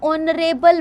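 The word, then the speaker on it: honorable: एन ऑनरेबल मैन, H को हमने यहाँ साइलेंट है.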